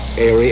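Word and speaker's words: Haere: to introduce it here it is spelled h-a-e-r-e go ahead how do i say it we now introduce we now introduce now is the hour in other words h-a-e-r-e airy and quit shaking ah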